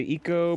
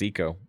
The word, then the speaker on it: ICO: We were talking about the game, I think it's pronounced Eco. ICO.